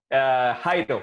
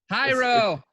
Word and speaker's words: Jairo: Jairo. It's Jairo. yeah. It's a I don't, Spanish J.